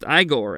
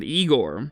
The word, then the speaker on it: Igor: your name by Will eigor insisted that his name was pronounced igore and not eigor once that little bit